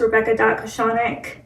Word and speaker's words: Rebecca Kochanek: out to me on Instagram my Instagram is rebecca.cochonic um you better spell it yeah so my last name is k-o-c-h-a-n-e-k